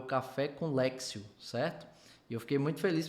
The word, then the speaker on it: Lectio: mandar uma mensagem e me ensinar o jeito certo para pronunciar então Grava aí ó café com lexio e alexio Divina tá bem E outra